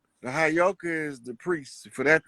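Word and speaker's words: heyoka: like I know you that word is properly pronounced hayoka the hyoka is the priest for that to be tapping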